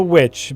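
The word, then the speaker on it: The VVitch: It's called the witch, but it's spelled vich. That That's the way it's spelled on the poster.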